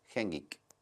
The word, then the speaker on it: GenGEEK: a hacer la intro para el programa de Hengek, que hasta antes de venir para acá no sabía pronunciar el nombre del programa, pero después de pasarlo tres veces lo aprendí. El programa se llama Hengik.